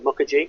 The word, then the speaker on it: Mukherjee: And I'm reading a really interesting book at the moment called The Gene and Intimate History by Siddhartha Mukherjee. I probably butchered his name.